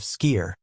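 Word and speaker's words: skyr: Yogurt number three, skier. The Icelandic secret. Now, let's talk about something many people haven't heard of. Skier, pronounced skier.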